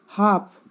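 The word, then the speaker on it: half: हाफ, हाफ में एल है।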